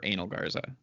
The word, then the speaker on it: Angel Garza: Strong, Aleister Black, Sheamus, and Angel Garza, or Angel Garza, or Anal Garza. Thank you for pronouncing it correctly the third time.